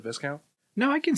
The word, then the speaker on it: Viscount: are you saying that you can't say VI count instead of Viscount no I can say